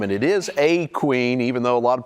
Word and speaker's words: A'Queen: it wrong you said they put that apostrophe in there for a reason a queen yeah it's a posh